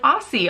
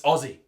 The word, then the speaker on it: Aussie: raked through the coals I was saying it like an American I was like Aussie Aussie Aussie its Ozzy okay and anything else is highly racist and just a hot tip it might sound phonetically as Ozzy but it's spill Aussie all right obviously the use